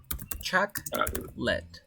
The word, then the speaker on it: chocolate: bar of chocolate uh you pronounce like like this chuck led again chocolate yes chocolate